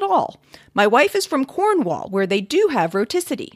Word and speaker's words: Cornwall: my wife is from cornwall where they do have roticity she says the r in cornwall i don't we've been living together